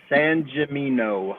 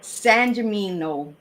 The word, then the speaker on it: Sangimino: Sangimino. Sangimino.